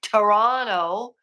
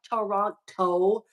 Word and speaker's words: Toronto: attending the University of Toronto it's not Toronto it's Toronto the tea is silent that's the way us Canadians say it um so raise he